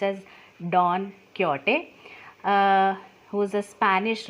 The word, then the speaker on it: Don Quixote: you read it you will read it as don quixote but it is pronounced as don quixote uh who is a spanish writer and the